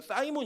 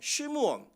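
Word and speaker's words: Simon: 뭐예요 시몬이 그래 여러분이 시몬이라는 이름이 영어식으로 발음하면 사이몬 있니다 우리 영분 사이몬 이렇게 얘기하잖아요 예 그렇게 그런 사람이 다 시몬의 그 베드로의 원래 이름이었던 시몬을 얘기하는 건데이 시몬은 히브리어로는 시무언 쉬이라 하는 어 야곱의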